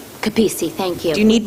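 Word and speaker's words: Capece: i'm sorry i didn't catch your last name kapisi thank you do you need me to spell it sure c-a-p-e-c-e thank you i just wanted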